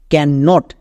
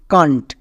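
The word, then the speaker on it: can't: কন্ট। কান্ট একে আমরা আবার ক্যান নোট বলবো না একসঙ্গে উচ্চারণ করব কান্ট এগুলো কিন্তু খুবই কাজে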